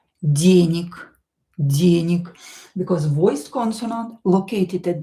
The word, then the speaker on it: денег: This G here will be pronounced as K. Денег, because voiced consonant located at the end of the word will become unvoiced.